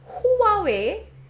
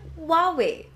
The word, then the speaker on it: Huawei: the Huawei honor 8 not Huawei but Huawei like w way honor eight I've been